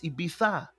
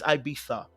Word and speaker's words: Ibiza: It is now the way they pronounce Ibiza. Okay? Now, I pronounce a lot of words wrongly. You guys know this already. But this particular word is Ibiza. Okay? All right? It's Ibiza.